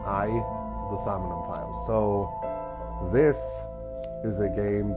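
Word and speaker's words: AI: The Somnium Files: playing this is called i the summoning files it's not actually ai it's pronounced i the samonium file so this is a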